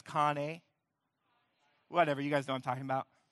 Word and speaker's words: Kanye: Yeah, I always want to say Conway, but it's Kanye.